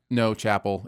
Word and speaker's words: Chappell: It's supposed to be pronounced Chappelle? Chapel. It's Chapel. I just get it wrong.